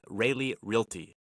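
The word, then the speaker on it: Railey: realtor in the Deep Creek Lake area with Realy.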